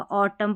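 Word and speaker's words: autumn: सबसे पहले कुछ शब्दों के अंत में जब एम एन हो ना तो वहां पर एन अक्सर साइलेंट होता है। तो यहां पर देखिए एम एन है। आगे देखिए यहां पर भी एम एन है। तो यहां पर है ना एन जो है ना पढ़ा जाएगा। ऑटम पढ़ेंगे इसको और इसको देखिए कॉलम पढ़ेंगे।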